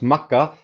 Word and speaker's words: Makkah: this whole thing about yeah sure it's a t but we pronounce it as an h and it's like okay